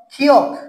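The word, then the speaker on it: 키읔: পরবর্তী বর্ণ খেয়াল করো, ক্ষিয়ক। কি বর্ণ আছে? ক্ষিয়ক। তাহলে শব্দের প্রথমে যদি ক্ষিয়ক বসাই তাহলে খ উচ্চারণ হবে, মাঝে বা শেষে বসাইলেও খ উচ্চারণ হবে, নিচে বসাইলে ক উচ্চারিত হবে।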